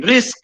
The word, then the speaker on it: RISC: RISC, R-I-S-C. It is pronounced as RISC.